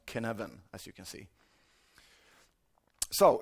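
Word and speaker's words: Cynefin: say this is Welsh so of course it's pronounced kin heaven as you can see so according to Canon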